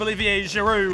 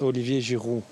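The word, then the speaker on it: Olivier Giroud: tell me your name let's pronounce it well French is Olivier jiru Olivia giru too much on our no need to using a little bit too much spit there with a French pronunciation but then again Jamie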